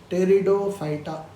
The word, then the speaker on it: Pteridophyta: P is silent. Pteridophyta. Lot of ferns you must be growing in your house as ornamental plants. They all come under Pteridophyta.